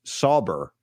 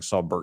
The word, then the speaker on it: Sauber: It's pronounced Sauber. Maybe you've been saying it right, but I've been saying it wrong. I've been saying Saubert.